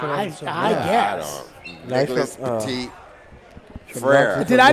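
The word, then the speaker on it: Petit-Frere: Is it Fair or Ferrer? Ferrer. So they got to mix it too. Frere. Not like 6 syllables, just one.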